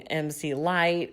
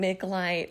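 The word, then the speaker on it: MC Lyte: movies or maybe like jackie mispronouncing mc light and saying mick light oh lord i was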